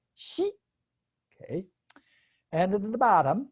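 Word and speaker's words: 夕: 对，那个 inkstand 啊，然后呢还有纸啊，对 paper 对。好，第13个字，名牌，名呢 on the top it's the character for new moon crescent pronounced by itself as xi.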